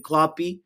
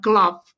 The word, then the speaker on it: Klopp: Steffi says, who cares about Klopp? It rhymes with flop.